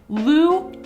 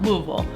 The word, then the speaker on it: Louisville: Broken into 2 sections, we're Lewis and we're Ville, right? But they say Louisville. Louisville.